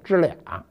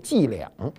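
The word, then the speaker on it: 伎俩: 什么叫知俩呢？标准发音应该是这样的，就是他老跟我玩这小伎俩。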